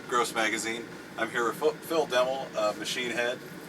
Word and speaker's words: Phil Demmel: I'm here with Phil Demmel, Machine Head. How you doing today, Phil? Awesome, you pronounced my name correctly too.